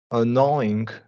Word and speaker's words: annoying: And so, yeah, what I want you to do there with annoying and employees is there's a vowel after the OI diphthong, so we're gonna really emphasize that Y sound.